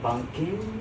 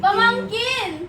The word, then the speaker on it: pamangkin: Pumpkin? Pumpkin? King? Pamangkin! Oh. Say pamangkin. Pumpkin? Pamangkin. Pamangkin. Yeah, pamangkin.